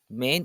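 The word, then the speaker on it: Maine: your certified weeb fact main is the only US state that has one syllable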